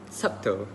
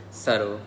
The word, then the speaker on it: subtle: word say it as subtle they pronounce the b and they pronounce the T and L in a very direct way and it would be